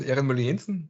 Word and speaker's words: Ehrenmüller-Jensen: thank you very much my name is irene mullinson so magnus pronounced my name much better than i can